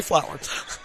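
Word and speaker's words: Flohr: Melissa, it's spelled F L O HR. So, we'll say Flower.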